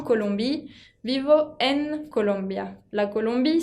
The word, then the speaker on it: Colombie: J'habite en Colombie. J'habite en Colombie. Vivo en Colombia. La Colombie, c'est un pays féminin parce qu'elle termine par un E, aunque no se pronuncia.